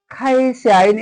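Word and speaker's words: 会社員: खाइस्याइन यसलाई का उच्चारण नगरेर खा उच्चारण गर्ने खाइस्याइन खाइस्याइन है कम्पनी कर्मचारी खाइस्याइन भन्नाले कम्पनी कर्मचारीलाई चाहिँ बुझाउछ।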